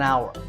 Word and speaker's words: hour: tour in number 9 the spelling has an H at the start but that H is silent we don't say how're